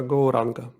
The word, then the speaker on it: Gauranga: Мантра, яку ми будемо використовувати в цій медитації, це буде мантра Gauranga. And it will be divided into 4 syllables, Gauranga.